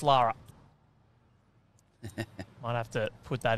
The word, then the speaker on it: Laura: Written down as Laura, pronounced Lara.